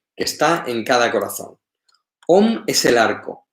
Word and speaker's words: Om: Dice Om, aunque él todo el rato va escribiendo A-U-M, ¿vale? Om está compuesto de las letras A-U-M.